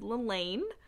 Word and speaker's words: Lelaine: it wasn't until I had watched a live reading with the author and he said Lelaine and I said, pause. And I was like, have I been reading her name wrong? And I grabbed my book and I looked at it and I was like, yeah, that says Lelaine. So yeah, her name is Lelaine.